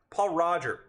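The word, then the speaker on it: Pol Roger: isn't that great Paul Paul Roger it's it's that's how the French pronounce it good old Pali Roger fitting for two reasons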